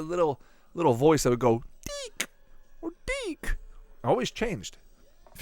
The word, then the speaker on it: DiC: Now, the big creator of the show is Deke. Oh, or Dick, depending on how you pronounce it. No, say it properly. It's Deke. Well, it's... yeah, seriously, it's Deke, right?